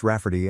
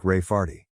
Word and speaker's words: Raferty: sister wanting to name my niece Raferty, pronounced Rafferty and not at all like Rayardy.